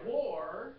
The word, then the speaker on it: wore: what did you wear I wore my clothes pronounced exactly like two countries fighting no w-a-r or the same way right yeah when did